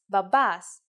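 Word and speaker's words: μπαμπάς: The word is babas. Let's write it. Babas. If you notice that mi and p together actually sound like b, you were right.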